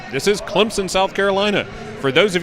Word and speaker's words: Clemson: that's right this is Clemson South Carolina for those of you that are not from here there's an invisible p in Clemson often mispronounced phonetically as Clemson only locals know